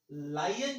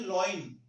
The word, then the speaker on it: lion: कौन है, पर्सन, और लायन जो है वो है एनिमल। एक बात ध्यान रखना, कई लोग इसका प्रोनाउंसिएशन करते हैं लॉइन, आपको ध्यान रखना है लॉइन नहीं होता, ठीक है ना, लॉइन